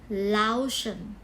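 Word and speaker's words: Laotian: เรา จะ เรียก ว่า laan ชน มัน มัน จะ เขียน ว่า ลว เชียน นะ คะ l a o t i a n แต่ เรา ไม่ อ่าน ว่า ชียน เรา เรา ต้อง อ่าน ว่า ชน ชน นะ คะ โอเค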